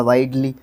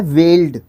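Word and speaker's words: wield: डब्लू आई डी ई एल वाई हो जाएगा वाइडल है ना लेकिन यह गलत है यह बोल दिया था मैंने लेकिन यहां पे है वेल्ड देखो यहां पर कोशिश करो डब्लू आई ई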